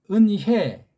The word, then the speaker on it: 은혜: 아니라 은혜 은혜 은혜 은혜 입술에 힘 주지 말고 은혜 그렇게 발음하셔야 돼요 앞으로 이걸 또 어떤